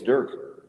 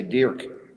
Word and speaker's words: Dirk: perfectionist it's besides Mochi it's Durk I should say Dirk that's how he says it I don't think he